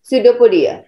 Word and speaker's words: pseudopodia: Unicellular organism produced through the process is called answer cell division pseudopodia नहीं, P silent रहेगा बच्चा, pseudopodia।